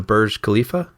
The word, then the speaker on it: Burj Khalifa: Because you know what was the I'm going to mispronounce. Was it the Burj Khalifa?